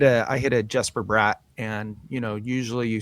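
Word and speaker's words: Bratt: Sweden, you know, that's not how you say his name. Josh teacher Jasper brought Yes, Brat.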